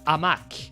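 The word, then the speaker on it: hamac: Actually, the the pronunciation of the word in French, it's quite similar. In French, we would say uh amak, you know, hammock. In French, amak. So, it's quite similar.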